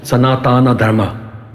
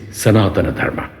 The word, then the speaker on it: Sanatana Dharma: It is not Sanatana Dharma, Mr. So-and-so, it is Sanatana Dharma.